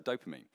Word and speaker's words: dopamine: So I've actually written, and I wish you could see it, I've written D-O-H per mean, like that, just so I can actually say it correctly. So dopamine is basically, it's produced